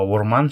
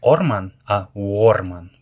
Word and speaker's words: орман: Следующее в начале слова буква о и буква э е как будто пишется как у у или е как будто бы и е. Например, слово урман, что значит лес, будет как не орман, арман.